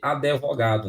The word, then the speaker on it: advogado: Esse advogado, que as pessoas têm a mania de pronunciar errado, é justamente por quê? Porque tirar da cabeça que de pronunciar o D aí igual ele está. E na verdade não é assim, tá?